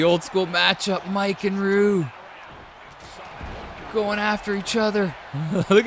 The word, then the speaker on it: Ryu: How do you say his name? Is it Ryu, Ryu, or Ru? We're going to go with Ru.